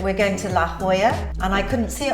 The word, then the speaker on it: La Jolla: realised how to say it correctly, which is La Jolla. The next one is coming up for you now. I still can't pronounce this the way the Americans pronounce it.